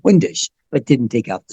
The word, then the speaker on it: Windisch: the letter R, Windisch, Windisch. It's Austrian, and it's actually pronounced over there, Vandash.